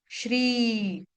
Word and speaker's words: श्री: इसको श्री या श्री या श्री नहीं बोलेंगे। इसको बोलेंगे श्री श्री जय श्री राम बना श्री निकेतनम।